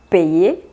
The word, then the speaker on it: paye: Pero si lo ponen con Y, la pronunciación va a cambiar. Sería je paye, tu payes, il, elle, on paye, nous payons, vous payez, il, elle paye.